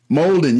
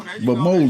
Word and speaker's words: Molden: Molden. Yeah, like Golden Molden.